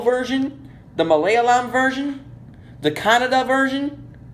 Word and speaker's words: Kannada: the Malayalam version, the Kannada version. Not to be confused with the country of Canada. This is Canada, the country. But it's spelled K-A-N-N-A-D-A and not C-A-N-A-D-A.